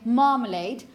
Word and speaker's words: marmalade: This is what you say, marmalade. Can anybody guess why it's that sound? Because of the R. Exactly, because of the R here. We've mentioned before that the presence of the R after a vowel, because it disappeared in pronunciation, or almost disappeared in some accents, it tends to make the previous vowel long.